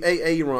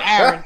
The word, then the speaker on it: Aaron: black and illiterate, and the kid's name was Aaron, and he kept saying AA Ron because Aaron has 2 A's in it.